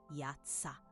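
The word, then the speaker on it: יצא: Pronuncia-se Yatsá com o Y bem forte no início. O A aberto como em casa, o TZ como um TS rápido, o A final longo e vibrante.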